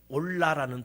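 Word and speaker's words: עולה: 올라라는 발음을 가지고 있습니다.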